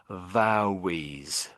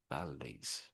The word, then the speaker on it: valleys: and then there's L's the L's get sometimes pronounced like a W. So I think you said this word something like vowies.